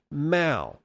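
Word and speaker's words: Mow: name incorrectly multiple times in the past it's pronounced ma the same as ma Zedong you are now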